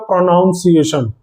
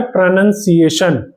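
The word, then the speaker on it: pronunciation: Even ये जो मैं बोल रहा हूं ना प्रोनंसिएशन इसको बहुत से लोग बोलते हैं प्रोनाउंसिएशन। वो गलत है। इसको बोलते हैं प्रोनंसिएशन।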